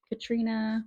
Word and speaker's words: Catriona: So Tamsin, Katrina, which is spelled like Catriona, but the author said Katrina, whatever.